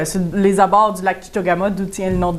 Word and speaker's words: Tchitogama: Course internationale de traîneau à chien de Chitogama, c'est bien ça? Oui. Je l'ai bien prononcé.